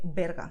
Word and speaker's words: Berga: And the last word here is very strange because Berga is a city near Barcelona, okay? And it's pronounced this way, Berga, okay?